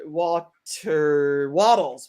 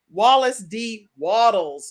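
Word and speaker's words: Wallace D. Wattles: of getting rich with wallace d walter walter waddles waddles i don't say it wrong wallace d waddles make sure you get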